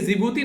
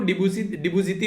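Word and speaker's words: Djibouti: Even एक जिबूती नाम का वर्ड है, मैं भी उसको डिबूजीती बोला करता है, यानी कि डी साइलेंट है उसके अंदर में, तो कई बार इसके बारे में पता नहीं होता है, ठीक है।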